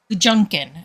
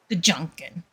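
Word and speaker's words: GJUKN: So, Doodlebee typed in chat, or somebody typed in chat, capital G, J, U-K-N, Gajunkin, I think is how we should pronounce that. Gajunkin.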